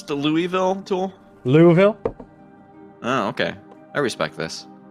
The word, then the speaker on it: Louisville: Louisville. Oh, okay. I respect this. Louisville. That's how they pronounce it down there.